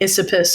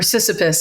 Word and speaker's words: Sisyphus: It's like Sisyphus or something like that, or Sisyphus, I think is the name.